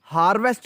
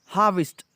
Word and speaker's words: harvest: comes the harvest, और ये लफ्ज़ हार्वेस्ट इसको नहीं पढ़ना, हार्वेस्ट भी नहीं पढ़ना, इसकी प्रोनाउंसिएशन है, आर को साइलेंट करें, हा, और वेस्ट को विस्ट पढ़ना है, हार्वेस्ट.